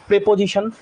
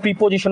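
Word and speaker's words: preposition: pronoun verb adjective adverb প্রেপজিশন তোমরা যাদেরকে প্রিপজিশন বলো উচ্চারণ হয় প্রেপজিশন প্রেপজিশন প্রেপজিশন আসবে সাত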